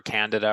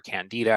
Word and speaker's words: candida: So, this is an area, whether it's more yeast or candida or candida, however people want to pronounce that, lots of good tools.